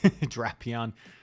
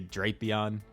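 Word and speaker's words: Drapion: That is the official pronunciation, by the way. Draion. I used to always say Drapeon.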